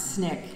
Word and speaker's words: SNCC: the student non-violent Coordinating Committee SNCC which we pronounce Snick and for which I worked for four years